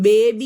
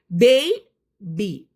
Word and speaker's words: baby: BABY എന്നുള്ള വാക്ക് പലരും ബേബി എന്നാ പറയാ. ശരിക്കും അതിന്റെ ഉച്ചാരണം ബേബി അല്ല, ബേബി. ആ എ ഇല്ലേ, ആ എ നമ്മളൊന്ന് എയ് എന്ന് വിളിക്കും, എന്നിട്ടേ ബി പറയുന്നുള്ളൂ.